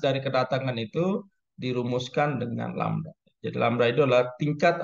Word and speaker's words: lambda: Atau ini ya perumusannya, intensitas dari kedatangan itu dirumuskan dengan lambda.